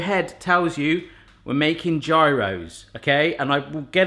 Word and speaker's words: gyro: Gyro would apply to a single sandwich, as in I want a gyro, while gyros would be the correct pronunciation if you were to say I love gyros.